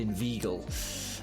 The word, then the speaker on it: inveigle: Say, inveigh, nay, but inveigle. Make the latter rhyme with eagle.